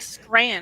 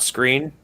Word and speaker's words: Skrein: No, but it's pronounced like Scran, I think. It's not Screen. No, but it's spelled like screen and pronounced scran, I'm pretty sure.